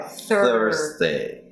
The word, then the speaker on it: Thursday: Thursday. And then it's a Z sound.